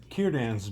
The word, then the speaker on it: Círdan: I believe they said they've got linguists say that it is a hard C. Círdan.